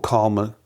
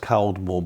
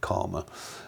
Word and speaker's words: Caldmore: What happened next was my dad and I joined a club called Calmer Liberal, Caldmore Liberal in Walsall. It's spelled Caldmore, but everybody called it Calmer.